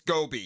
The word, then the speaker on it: Gobi: It's Gobi. It's Gobi. Which rhymes with what?